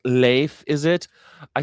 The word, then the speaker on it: Leif: And there's social democrats which were the arch nemesis of the it's it's pronounced leif. Is it? I say leaf Ericson.